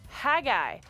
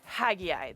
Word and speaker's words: Haggai: to lead his people the answer is haggai i will also accept haggai the jury's still out on pronunciations but no matter how you say it the spelling's the